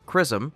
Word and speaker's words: XRISM: station a japanese-led mission xrism pronounced chrism will launch earlier in